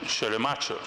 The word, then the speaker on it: Schleiermacher: persona del teólogo alemán Schleiermacher. Otros lo pronuncian Schleiermacher, pero como yo no soy alemán, pues lo pronuncio como más cómodo sea en mi castellano. Aparte que también está aceptado.